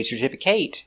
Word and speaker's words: certificate: but certificate certificate certificate four syllables stress the second syllable certificate certificate certificate certificate